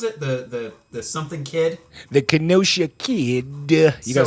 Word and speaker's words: Kenosha: The Kenosha Kid.